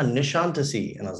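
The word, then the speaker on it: Nişantaşı: like this makes sense it's spelled n-i-s-a-n-t a-s-i in centasy how else would you pronounce it and she's like ah nishantisi and i was like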